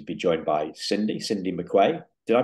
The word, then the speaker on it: McQuay: I'm delighted to be joined by Cindy Cindy McQuay did I pronounce that right Cindy the yes you did